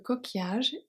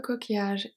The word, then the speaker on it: coquillage: So the U is silent and S at the end as well. The double L are not silent because they are part of the ruling E, so it's a sound.